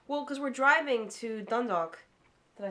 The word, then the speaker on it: Dundalk: Dundalk. Almost. Almost. You've got the L being replaced with the W, right? But you're saying it as though it's two words jammed together.